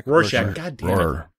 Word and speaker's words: Rorschach: Rorschach. God damn it. Rorschach.